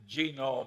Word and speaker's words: genome: mentioned that one book genome i have a hell of a time putting the accident on the first syllable but that is a